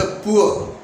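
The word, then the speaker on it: poor: होगा ऊ ओ, ऊ, जैसे पुअर, ठीक है, तो ये डिप्थोंग लगेगा पुअर में। पुअर को कैसे लिखेंगे, ऊ ओ, र साइलेंट रहेगा।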